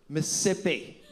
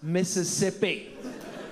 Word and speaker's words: Mississippi: no longer Mrs MCN it is not Mississippi it's Mississippi you're costing me an entire syllable of hydration with your pigeon English